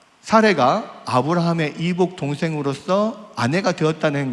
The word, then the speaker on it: 사라이: 한글 번역에서는 이제 사레로 되어 있지만 그 언어에 더 가까운 발음으로 하자면 사라이입니다. 사라이.